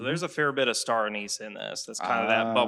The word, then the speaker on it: star anise: Or some people pronounce it star anus.